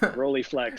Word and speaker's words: Rolleiflex: You like, I believe it's I don't know if I'm going to pronounce this correctly, a Rolleiflex, or how do you say that? Rolleiflex.